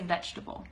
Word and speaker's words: vegetable: and then that vegetable we don't have to say vegetable you don't necessarily have to say like that vegetable we just say vegetable that's vegetable table awesome okay guys are